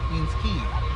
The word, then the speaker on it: Queens Quay: locals don't say Queens Quay, we say Queens Quay. Usually people from Britain, Australia, South Africa get that right because it's more of an English word.